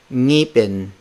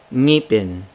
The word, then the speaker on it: ngipin: The NG consonant can also be placed at the start of the word. This is the most challenging among foreign speakers. They have difficulty pronouncing the NG sound at the start of the word. For instance, the word for tooth, ngipin, ngipin, ngipin.